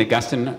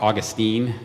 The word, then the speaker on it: Augustine: So just to unpack a little bit, St. Augustine or Augustine, however you hear that, it's differently pronounced if you're from the UK or America.